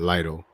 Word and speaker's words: Lidl: It's written really weird, but I say it like that, Lidl. But it's written like Lidl. Little, whatever. Lidl.